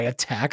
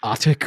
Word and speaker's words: AHTCK: they go by afi we could go by attack that says attack hell yeah like nobody knows how to pronounce it nope like everybody thinks it's like otic or something like that um we actually are